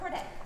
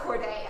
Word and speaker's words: Corday: you tell us your name right hi cordette spot on corday a soon to be killer in revolutionary friends